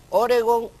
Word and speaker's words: Oregón: Se debe decir Oregón u Oregón. Esto es relacionado, referido al estado uno de los estados de Estados Unidos. En español es palabra aguda y termina en consonante N, por lo tanto, tíldela y pronúnciela como tal, Oregón, Oregón.